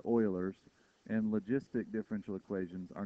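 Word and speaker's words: Euler's: it looks like I know ERS but it's pronounced Oilers and logistic differential equations are new topics and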